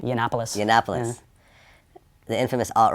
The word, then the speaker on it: Yiannopoulos: interviewed a Milo uh how do you pronounce his last name yiannopoulos the Annapolis the infamous